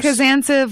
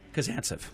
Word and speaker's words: Kazantsev: Kazantsev, like expansive. Kazantsev.